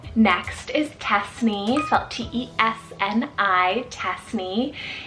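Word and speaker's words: Tesni: sweet and peaceful next is cassney felt t-e-s-n-i tasny it's a well-shruted name meaning warmth of the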